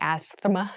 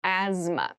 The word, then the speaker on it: asthma: There's a TH in the middle, but we don't say asthma, we say asthma. So kind of ignore that, but try to remember it when you're spelling this word.